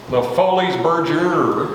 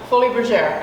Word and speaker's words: Folies Bergère: You were in a show, and I'm going to pronounce it from Texas, it's Le Folies Bergère, but in French it's actually what? Folie Bergère. Exactly, and it was at Tropicana, and ran for 150 years.